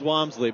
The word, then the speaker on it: Walmsley: It's pronounced Walmsley, but I prefer to call him Wamsley, because he's a football player and he kicks a football, and it's a great name.